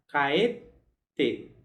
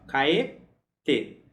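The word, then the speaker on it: 帰って: E a gente na forma T vai ficar caete, caete. Então lembra sempre de marcar isso, ó, caete. Então seria marcando bem a posição dessa pausa.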